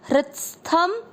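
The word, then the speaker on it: हृत्स्थम्: तो वैसे ही आपको यहाँ पे बोलना है हृत को हृत्स, तो उच्चारण बहुत आसानी से निकलेगा हृत्स। और थ पूरा थ में अमिक्स करेंगे हृत्स्थ, शब्द पूरा होने के बाद थ पे अनुस्वार आधा म हृत्स्थम।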